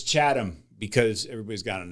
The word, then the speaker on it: Chatham: a t h a m Massachusetts Chad wait cheatam cha chaam is how you know the average white boy I think would pronounce it that's how I kept saying it but it's chadam because everybody's got an accent there and if